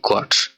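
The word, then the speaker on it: Quatsch: করা, তখন বলা হয় কোয়ার্টস। এটার উচ্চারণটা হবে কু উ আ টে এস সে হা, কোয়ার্টস অর্থাৎ ননসেন্স বা বোকামি।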